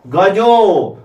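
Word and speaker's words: गजाः: गजा एक हाथी, गजो दो हाथी, गजा आ का उच्चारण विसर्ग, विसर्ग और हलंत संस्कृत में भूलना नहीं है।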